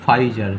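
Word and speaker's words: Pfizer: এটা multi national, মানে অনেক দেশেরা একসাথে মিলে বানিয়েছে বা কোলাবোরেশনে বানিয়েছে, এবং এক্ষেত্রে কোম্পানিটার নাম হচ্ছে যে ফাইজার। তাহলে উচ্চারণ ফাইজার নয়, ফাইজার।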